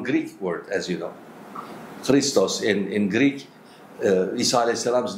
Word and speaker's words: Christ: But in English they don't have that sound. So as a result they pronounce as K, right?